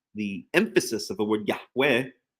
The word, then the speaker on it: Yahweh: emphasis of the word Yahweh, even if you pronounce it, which I've come to believe is incorrect, Yehovah, the hey is the